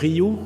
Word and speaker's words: Rioux: name is ryu pronounce it like ancient ryu from the e dodgers so in french i-i-o-u-x is like the letter y so i'm the founder